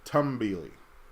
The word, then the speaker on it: Tumbili: Regarding pronunciation, they apparently switched it to tum, like tummy, tum, since you're tumbling, so tumbili.